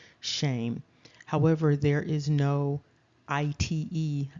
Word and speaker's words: Shem: 834 strongs there is the name Shem pronounced shame however there is no